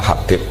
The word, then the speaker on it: Habib: Itu di harokatnya kitab itu ada yang nulis Hubab. Yang benar, oh enggak, yang benar itu bacanya Habib. Habib itu As-Sulami itu ikut marga Robi'ah.